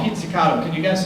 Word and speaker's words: pizzicato: First of all, the technique they use is called pizzicato.